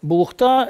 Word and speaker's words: Булухта: она бывает разное вот бухта ударение именно на последний слог бухта это переводе с калмыцкого